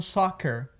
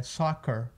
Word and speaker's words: soccer: E as pessoas às vezes pronunciam soccer, e não é soccer, é soccer, com aquele UR no final, beleza?